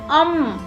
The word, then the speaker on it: अं: इसके अंदर हल्का सा न का साउंड आता है, जैसे अंक, अंगूर, मतलब जो हमारी जीभ है अंग वो ऊपर लगती है तो ये शब्द उच्चारण होता है जैसे अंग, अंदर, अंगूर। तो क्या होता है, जो हमारी आवाज होती है थोड़ी नाक से निकलती है तो इसका उच्चारण होता है, इसको बोलते हैं अम।